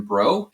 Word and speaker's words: Brault: It's at Action Bro. And yes, my last name is actually pronounced Bro, even though it looks like Brault.